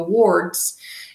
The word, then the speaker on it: word: I can read the words. It is word. Again, it sounds like an ER, but it's not spelled ER. It's spelled OR.